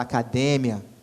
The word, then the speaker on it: academia: igual, como, por exemplo, academia, que em espanhol se fala academia, polícia, que em espanhol se fala policia, são palavras com a mesma escrita, cara, idênticas, mas mudam o quê? Mudam a sílaba tônica.